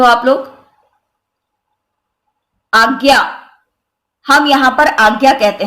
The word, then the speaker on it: आज्ञा: जैसे आज्ञा है तो यहां पर हम आज्ञा यानी ग आधा और य रूप में इसका उच्चारण करते हैं।